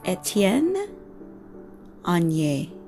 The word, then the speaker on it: Étienne Aigner: So so the name is Étienne Aigner. Resist the urge to want to say all of the vowels and enunciate each letter, because that's not how it's done.